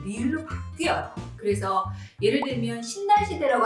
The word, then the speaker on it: 신라시대: 그래서 예를 들면 신라시대라고 안 하잖아요. 신라시대가 아니라 신라시대. 니은 다음 리을이 왔기 때문에 신라시대라고 얘기하고요.